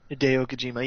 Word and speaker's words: Hideo Kojima: And listeners, if you haven't seen it, it's the you say his name because I mispronounced his first name. Hideo Kojima. Hideo Kojima, yes.